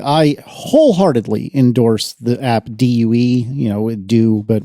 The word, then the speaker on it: Due: Uh, very quickly, I wholeheartedly endorse the app due, you know, do, but when I pronounce the word do, nobody knows what I mean.